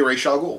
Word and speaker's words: Ra's al Ghul: They both say Ra's al Ghul.